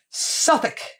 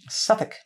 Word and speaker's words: Suffolk: about doing this episode Suffolk like it's not like Suffocation it does I think